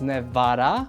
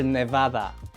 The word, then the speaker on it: Nevada: argument of whether it's Nevada or Nevada the latter pronunciation is the Spanish adjective for snowy but it doesn't stop